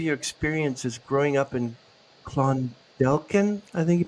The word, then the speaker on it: Clondalkin: Uh Sarah, can you go back to the beginning of your experiences growing up in Clondelen? I think you pronounce it.